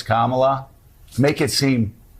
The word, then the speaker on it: Kamala: when they know better it's Kamala I will talk to Republicans that will say Trump Republicans that will say cumala what that's interesting now why do you mispronounce her name when you know it's Kamala make it seem like